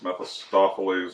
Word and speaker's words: Mephistopheles: Well, in the case of Johnny Blaze, the original Ghost Rider, he ends up essentially making a pact with, I think it's Mephistopheles, is how you pronounce it.